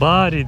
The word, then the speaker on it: Bari: ilk indik ilk bari'den Bu arada bari diyoruz biz ama bari diye okunuyormuş Onu da amalfi otelimizde söylediler Neyse bu da ayrı bir